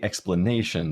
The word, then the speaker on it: explanation: So if we say explanation, that is the most natural way to say it. So ne has primary stress.